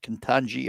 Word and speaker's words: Ketanji: Ketanji, I think is the way you pronounce it, Ketanji Brown Jackson.